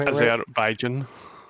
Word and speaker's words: Azerbaijan: Is that how you pronounce Azerbaijan? Yeah. It is, as a matter of fact. Wow. Yes. That's Azerbaijan.